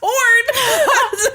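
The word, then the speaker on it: Hrones: say it wrong said I'm sure it's pronounced horn how you pronounced it but the r is in the wrong place it's HR that's what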